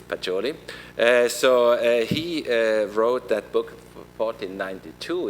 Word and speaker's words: Pacioli: That is the Franciscan monk Fra Luca Pacioli. I hope I pronounce it correct, if there is some Italian here. So I think it's Pacioli.